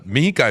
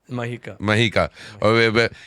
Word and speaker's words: Mahika: Yeah, for Mihika, if I'm saying it right. Mahika.